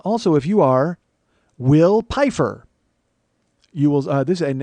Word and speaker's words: Pifer: appreciate that very much it is will pifer because it's spelled like Pfeiffer but he made a point to tell me it was pifer so I'm making sure that I say will pifer uh I'm pretty sure